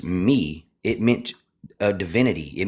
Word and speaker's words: me: If we go back to the ancient Sumerians where the word me actually originated as an am I, me, and it's pronounced me, it meant a divinity, it meant divine, it meant that Yes.